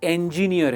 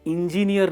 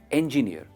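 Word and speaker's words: engineer: दोस्तों, ये इंजीनियर है और इंजीनियर नहीं है, इंजीनियर।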